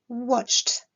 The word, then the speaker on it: watched: Lorsqu'on est face à un verbe qui se termine par un son sourd, la terminaison ed se prononcera t, watched.